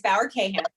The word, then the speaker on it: Bauer-Kahan: So first of all, it's Bauer-Kahan, but nobody gets it right.